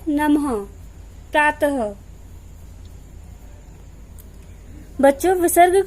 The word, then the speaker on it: नमः: इसका उच्चारण आधे ह की तरह होता है। जब ह के पैर में हलंत लगता है तो ह आधा हो जाता है। जब हम इसका उच्चारण करते हैं तो इसका उच्चारण होता है नमः, प्रातः।